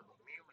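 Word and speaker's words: μ: इस तरह हमारे पास स्मॉल अल्फ़ाबेट्स में यू लिखते हैं तो इस तरह लिखा जाता है और इसको प्रोनाउंस किया जाता है म्यू।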